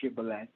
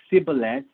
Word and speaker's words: Shibboleth: they said all right say shibale if he said sibylet because he could not pronounce the word correctly they seized him and